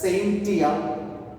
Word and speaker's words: scientia: It is actually pronounced as scientia.